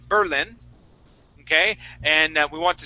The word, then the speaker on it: Berlin: You're putting the accent at the beginning, saying Berlin. The accent needs to be at the end, saying Berlin.